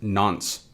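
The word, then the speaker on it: nonce: on from that we have this n nce pronounced nons so what is the nons a nons is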